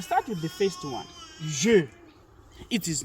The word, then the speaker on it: je: Right, we're gonna start with the first one, je. It is not je, because most of the English speakers would rather say je. It is not je, it is je. Okay, that's how we pronounce it, je.